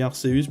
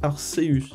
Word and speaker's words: Arceus: l'appeler comme vous voulez moi je dis arseus parce que normalement c'est eux ça se prononce ces voix là et parce que quand on regarde les spots de publicité les japonais 10 arseus voila voila c'était la précision